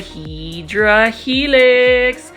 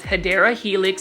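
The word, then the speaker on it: Hedera helix: could probably put a hedra helix or the correct way to say it is hadera Helix English ivy and for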